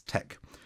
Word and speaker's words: TeX: this more foundational system which is Tech um which sounds like it's spelled t-e-c-h but it's spelled t-e-x um it's spelled let